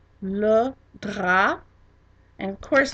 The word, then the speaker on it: drap: And of course the P is silent because we are always careful, and if a word ends in a consonant other than C, R, F, or L, we don't pronounce it. So dra ends in a P, therefore it's not pronounced.